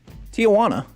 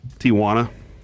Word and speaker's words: Tijuana: Pronounce this, please. Tijana. Yep. Tijuana.